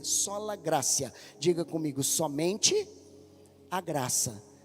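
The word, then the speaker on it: sola gratia: a quarta base é sola grácia ou gratia né escreve com t em latim e se pronuncia com c sola grácia diga comigo somente a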